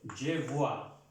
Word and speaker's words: je vois: Recuerden de pronunciar la V, la V, no la B. Porque si ya pronunciamos, si la pronunciamos con la B, je bois quiere decir yo bebo. Entonces debemos hacer la diferencia. Siempre la V, esta V y la B.